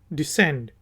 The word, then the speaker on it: descend: हम कहते हैं DESCEND, डिसेंड। ऊपर जाने को असेंड, नीचे आने को डिसेंड। तो इसमें सी प्रोनाउंस नहीं करेंगे, डिसेंड।